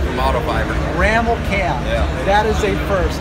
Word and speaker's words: Rammelkamp: pronounce that, right? Yeah, Rammelkamp from Microfiber. Rammelkamp.